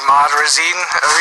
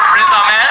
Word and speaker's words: Riz Ahmed: I don't know how to pronounce his name. Ahmad Razin? I can't remember. What does that sound? I don't know his name. I think I got a little closer. Riz Ahmed.